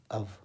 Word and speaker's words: of: OF का pronunciation होता है अव, ध्यान रखिएगा। और OFF को पढ़ते हैं ऑफ, यही इसका उच्चारण करेक्ट है।